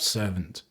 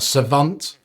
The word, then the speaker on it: Savant: To go along with this, we've got Doretti Scrap Servant, or Savant, if you actually want to pronounce it correctly.